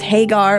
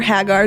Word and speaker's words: Hagar: The she in this verse, her name is Hagar or Hagar, depending on how you pronounce it.